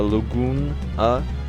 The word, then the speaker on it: Laguna: This is Laguna, or Laguna, as I've heard it pronounced.